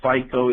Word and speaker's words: FICO: kind of familiar with Fi and Co finance and controlling typically pronounced as FICO is out there SD